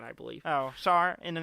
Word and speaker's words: Tsar: Star, is that how you say it? Yeah. The T is silent. The T is silent, I believe. Oh, Tsar.